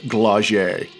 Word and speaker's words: Glaug: is a tactical pod glagier yeah it's a soft G not a hard G it's from the 80s